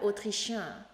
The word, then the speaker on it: autrichien: То есть autrichienne N произносим, а autrichien мужской род, там N носовой на конце, рот не закрывайте.